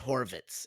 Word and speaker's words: Horvitz: Rich Horvitz is easier than saying Richard Horvitz.